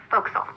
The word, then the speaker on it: forecastle: The forecastle on a ship refers to the upper forward deck of a sailing ship, but it's pronounced forecastle. Why's that? Try pronouncing it like an English sailor with no formal education. Forecastle. Forecastle. Over time it whittled down.